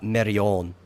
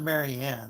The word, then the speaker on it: Marion: Yeah, because they pronounced it Marion. Yeah, because like Nicolas Cage is a. Oh, so not Marianne. That's. Yeah, that's Marion.